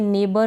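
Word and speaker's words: neighbour: और फिर इसमें नेबर में, दो में, ऑल्दो में, दो में, ठीक है, ऑल्दो, दो, और इसको भी दो पढ़ेंगे। इनमें भी क्या है कि GH का उच्चारण नहीं है, क्योंकि I के बाद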